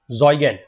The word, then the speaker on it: Zeugen: ये जो नाम दिया गया है इसका प्रोनाउंसिएशन इज ज़ॉइगेन, ठीक है। ज़ॉइगेन इसका प्रोनाउंसिएशन है।